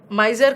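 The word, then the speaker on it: miser: सबसे पहले तो प्रोनाउंसिएशन देखो, ये माइजर है, this is माइजर and this is नॉट माइजरी, this is मिजरी।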